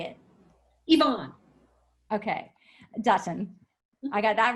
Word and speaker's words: Yvonne: Yvonne, if you want to turn your, see, I even wrote down the pronunciation and didn't do a great job of it. You say it. Yvonne.